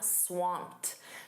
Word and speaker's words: swamped: You can also say, "I'm swamped." Notice that pronunciation, that ed d is a soft t.